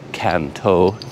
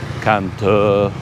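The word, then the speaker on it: Cần Thơ: And I'm here in the city that I call Can Tho. But I think the local pronunciation is considerably different than that. It's more like Can Tho or something like that.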